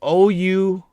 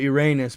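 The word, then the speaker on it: Ouranos: Okay, the Titans were 6 elder gods named Cronus, Kyers, Krios, Iapetus, Hyperion, and Oceanus, sons of, it's Ouraon. It's they call it Uranus, but it's spelled like Uranus.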